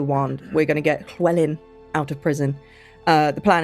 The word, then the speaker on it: Llywelyn: We're gonna go get out Llywelyn. Llywelyn is the Welsh pronunciation of the name.